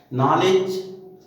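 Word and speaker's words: knowledge: नॉलेज, KNOWLEDG, उसमें भी डी का उच्चारण नहीं होता, नॉलेज ही बोला जाता है।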